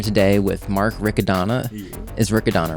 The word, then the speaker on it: Riccadonna: Yeah, that's the that's probably the correct ricodona but because Italians use pure vowels or whatever, but we're American.